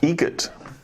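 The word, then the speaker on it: Eget: Egget. Spelt differently. Like the bird. That's Egret. Do you know what Adam Egert has in common with a guitar player? Adam Egget has in common with a guitar player.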